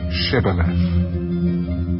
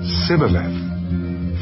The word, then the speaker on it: Shibboleth: If he said no, then they would say to him, "Then say Shibboleth." And he would say Sibboleth, for he could not pronounce it right.